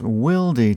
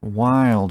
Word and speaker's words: Wilde: in the last video it's Wy tools not why tools either way we got